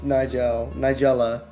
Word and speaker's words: Nigella: I almost mispronounced that myself. It's Nigella.